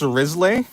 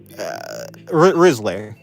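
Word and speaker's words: Wriothesley: It's pronounced Risley.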